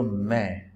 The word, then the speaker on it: mets: It is je mets. Now don't say T and don't say S. Always say m.